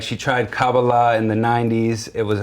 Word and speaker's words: Kabbalah: So the emphasis is more like the end.